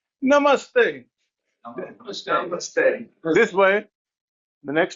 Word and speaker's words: namaste: You're supposed to say namaste.